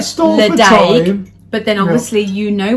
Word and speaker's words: Ledaig: to pronounce it, and they spell it out Letch, which is what we thought. -ick. Ledaig.